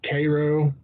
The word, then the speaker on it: Cairo: Cairo which is filled like Cairo but you pronounced Cairo cuz dirt but I mean it looks like